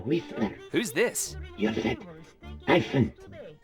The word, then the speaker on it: Evan: You need to be more careful, Ethan. Evan! It's pronounced Evan!